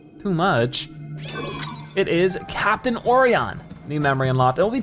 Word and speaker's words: Orion: Okay, so it's pronounced Orion, sorry.